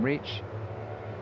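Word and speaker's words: Richi: And if you're thinking why am I calling him reach? It's because that's how he likes his name which is spelled R I C HI to be pronounced. So it's reach Takahhira.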